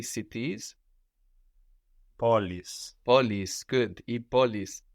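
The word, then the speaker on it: πόλεις: Polis. Polis, good. I polis. So this is just like adding an S to poly, polis, but this is spelled EIS, this plural ending.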